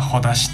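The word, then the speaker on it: ほだし: ほだしはあの絆って字にしって書いてほだしって読むんですけど、はい、それです。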